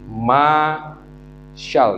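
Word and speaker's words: מָשַׁל: Bacanya dari kanan ke kiri. Masyal, ini MSL, masyal.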